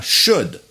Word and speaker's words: should: Il y a un L, mais on ne le prononce pas, on l'a déjà dit. On dit shoulder, ça c'est l'épaule, mais ça c'est should.